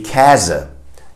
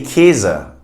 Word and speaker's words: Käse: You'd have to say Käse. Käse, because it's an A sound, right? But I feel like we just say Käse as if it were two E's.